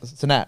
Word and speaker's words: Cenat: But it was funny because when you brought up the Kai Cenat stuff, Cenat, right? That's how we say it.